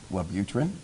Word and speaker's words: Wellbutrin: hormones in your brain that certain drugs like Wellbutrin, is that how you say it? Wellbutrin, yes.